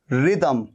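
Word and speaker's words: rhythm: तो रिदम में भी देखिए एच आ रहा है, ये एच आ रहा है, लेकिन एच दोनों जगह पर साइलेंट है। रिदम, RY, रिदम।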